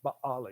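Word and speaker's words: בַּעֲלִי: Actually, if you pronounce it Hebrew-wise, it's Baali. You have to kind of put a hiccup in there, you know.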